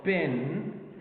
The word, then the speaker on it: spin: So spin, spin, spin, no aspiration. Pin, aspiration. So if we got like the p sound at the beginning of the word, it could give aspiration. But if it's preceded by a consonant like s here, okay, it takes out or excludes the aspiration.